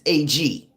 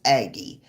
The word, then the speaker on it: Agee: Because see, these dilapidated dwellings are what monsters like Ronell they say his name is AG. I say it's Aggie, but I guess it's where you're from and how you choose to pronounce his last name.